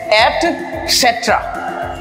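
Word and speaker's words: etcetera: इसको मैंने देखा है most of the people they pronounce एटसेट्रा नो इसका करेक्ट प्रोनाउंसिएशन है एटसेट्रा एटसेट्रा right next word ये भी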